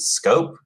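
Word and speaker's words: Schoop: All right, so I don't necessarily believe in how you pronounce it? Scope, is it?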